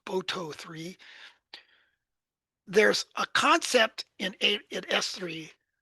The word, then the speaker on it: Boto3: I think it's commonly pronounced BOTO3.